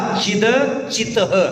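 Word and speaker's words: चिदचितः: आवाज़] सम सुनो भावा चिद चितः दूसरी बार त का उच्चारण करो पहली बार द का उच्चारण करो चित अचित माने दूसरी बार त का उच्चारण चिद चिद नहीं चितः चिद चित ठीक पुन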